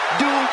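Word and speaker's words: Dupri: Here comes the talented Maxine Dri. Uh, Michael, it's pronounced Dri from Phoenix, Arizona.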